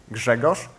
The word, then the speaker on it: Grzegorz: if you're still wondering after keynote, how's the pronunciation of the paleontologist friend of the keynote speaker, it's Grzegorz, and bear with me now, Brzęczyszczykiewicz.